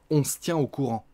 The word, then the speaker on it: on se tient au courant: se tient au courant, on mange le E encore une fois, on se tient au courant, on va la prononcer, on se tient au courant.